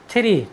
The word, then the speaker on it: three: हमारा next word meaning है THREE, थ्री। थ्री means होता है 3। साथियों, यहाँ पर भी टी के बाद H आया है, इसलिए हम टी का उच्चारण थ किया है।